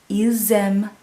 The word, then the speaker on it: ils aiment: And you're going to hear that S that sounds like a Z in there.